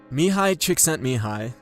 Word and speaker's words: Csikszentmihalyi: Mihi Chickscent Mihi and that's by the way how you say his name dedicates a big part